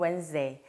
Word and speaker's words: Wednesday: Wednesday니까 W-E-N-D일 것 같지만 철자가 완전히 다르죠. Wednesday. 정확한 발음은 Wednesday.